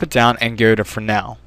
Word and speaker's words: Fresnel: Hit the texture button there, drop it down, and go to Fresnel. At least that's how I've always pronounced it, and that's how I've heard other people pronounce it. I don't believe it's Fresnel, even though it looks like that.